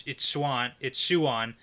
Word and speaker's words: Siuan: Well, it's Siuan, but I say it fast, so it's Swan. You're confusing me with your pronunciation. You can say Swan. Yeah, that's what I do say. Yeah, but if you slow it down, it's Siuan.